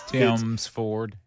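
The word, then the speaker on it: Tims Ford: It's Tim's Ford.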